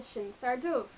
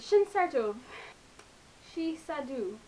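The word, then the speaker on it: Sinsar Dubh: and it's called the Shiner do um that's how you pronounce it in Irish that's how the monster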